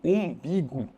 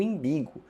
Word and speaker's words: umbigo: E muitas pessoas falam assim: ah, mas não é vovó do umbigo. Claro, gente, esse é o jeito certo de falar, né? Mas elas se apresentam como vovó do imbigo, que é o jeito popular de falar umbigo, tá?